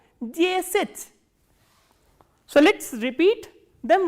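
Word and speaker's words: десять: For 10, the, ye, s, ya, t and soft sign, and stress is on ye again, and this ya is reduced. So, how will you pronounce this word? Jesit.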